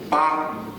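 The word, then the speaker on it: 八: Because 8 in Chinese pronunciation is ba. It's similar to fa.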